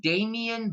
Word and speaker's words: Damon: justice it's it now it's pronounced Damien but but it's spelled Damon if you're looking for